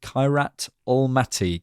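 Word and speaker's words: Kairat Almaty: And, uh, yes, we'll be back for an instant reaction, I think, next to the Kirat Almati game is how you say that name, apparently.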